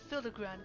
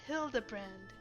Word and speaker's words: Hildibrand: Since parting ways, I searched every alley and dive bar in Everkeep for signs of this Hildigrand character. It's pronounced Hildabbrand.